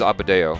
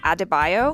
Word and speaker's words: Adebayo: I cared about was abodeo I keep saying her name wrong adebayo adebayo that's what it is she's the only character